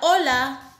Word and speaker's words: hola: La palabra hola quiere decir hi. Hola means hi. And as you can see, we do not pronounce the letter H. We begin only by pronouncing the O.